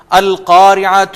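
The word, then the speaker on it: القارعة: اور آخر میں یہ جہاں پر تا، اس کو ہم مربوطہ کہتے ہیں، بندھی ہوئی تے، یہ جب اس پہ رکیں تو یہ ہا کی آواز آئے گی ہمیشہ۔ میں پھر دہراتا ہوں، القارعۃ ما القارعۃ، القارعۃ ما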